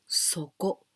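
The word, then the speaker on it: 底: And this tei, we can also pronounce soko.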